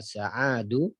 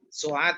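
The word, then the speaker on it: سعاد: Kam akhon laka ya Sa'adu? Su'ad itu Pak, bacanya Su'ad.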